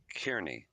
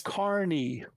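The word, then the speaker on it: Kearney: Kney, right? No, it's Carney. Like carnival. Carney. I'm like, no, it's Carney.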